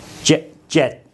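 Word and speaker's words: เจ็ด: เ จ ็ ด You can hear that the final sound is a T sound, but it's written with this character called dordek, which has a D sound as an initial consonant.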